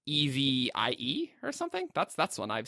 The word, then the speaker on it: Evi: Well, I think it should be pronounced Evie then, and that's what I want to say.